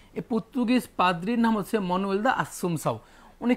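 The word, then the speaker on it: Manoel da Assumpção: সেই ব্যক্তির নাম হচ্ছে মানুয়েল দা আসুমসাউ। মানুয়েল দা আসুমসাউ। ওকে, দেখেন এই নামটা অনেকে অনেকভাবে উচ্চারণ করে, কোনো সমস্যা নেই, এটা পর্তুগিজ নাম তো একটু ঝামেলা হতেই পারে। কেউ বলে ম্যানুয়েল দা আসুমসাউ, কেউ মানুয়েল দা আসুমসাউ,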